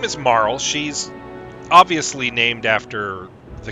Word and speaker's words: Marle: But I always thought that Princess Nadia's assumed name was Marley, not Marl. So hearing it pronounced Marl here actually kind of threw me for a loop the first time, where I was like, is that how you pronounce that? I thought it was Marley. But what do I know?